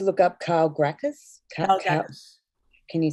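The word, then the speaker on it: Calgacus: Karl Gackus. Can you spell it? C-A-L-G-A-C-U-S. Could also be pronounced Karl Jackas.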